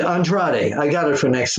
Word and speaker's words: Andrade: Rollins again against under I always say his name wrong untrod two guys ride down Friday thank you so uh I can't ever pronounce it Andrade I got it for